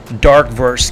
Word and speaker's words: DRKVRS: 25th Witcher animator launches dark verse game so spell drk vrs as we know in web 3 world we don't pronounce vowels so it's dark first